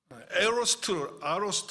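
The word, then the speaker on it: aorist: 그걸 아로스트 이렇게 발음하는데 그 문법이에요.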